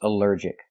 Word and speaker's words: allergic: Allergic is 3 syllables. Allergic. The stress is on the second syllable. Allergic. Allergic. Here the ALL is not pronounced all, but pronounced like in cup and up, because it's not stressed.